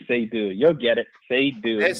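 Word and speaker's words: Seydou: S E Y D O U Saydou. You'll get it. Saydou. S E Y D O U? Yes, S E Y D O U. Yes, Saydou.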